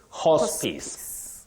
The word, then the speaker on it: hospice: who are terminally ill you don't say HP HP no if you check the phonetic transcription that I have used down here you'll realize that you say hospice hospice just like Prejudice not Prejudice hospice noice